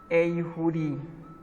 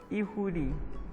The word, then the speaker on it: eihuri: We have another word eihuri, which is a huri, but you can pronounce it as ihuri, which is an egg.